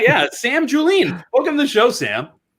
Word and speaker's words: Julien: a difficult one yeah most people say julian but it's not that's not right it's julene yeah yeah yeah kudos